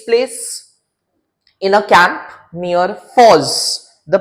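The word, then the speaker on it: Forres: Now, this scene takes place in a camp near Foz. The pronunciation is Foz and not Forest.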